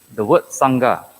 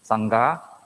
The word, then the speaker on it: Sangha: is a wrong pronunciation is actually s-a-n and g-h-a as if two separate words so it should be pronounced as Sangha not Sangha okay that is a